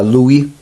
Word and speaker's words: Levi: matiah Filipe cênica sadik Loui que hoje chamam de Levi mas a pronúncia original era Lui Efraim iosef e e